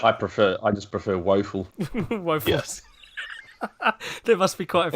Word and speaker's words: Woefel: z like scope uh the name is wolfel it's pronounced waffle or some people say wolfel yeah